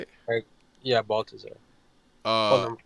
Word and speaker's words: Baltazar: Yeah, Baltazar.